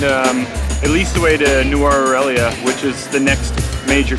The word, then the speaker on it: Nuwara Eliya: And the place we're going to is pronounced properly Nuwara? Nuwara? Nuwara Eliya.